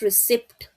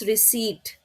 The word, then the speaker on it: receipt: It's not receipt. It's receipt. P is silent.